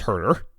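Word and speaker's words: Kevin Huerter: They need more Huer minutes. First off, it's pronounced Herder.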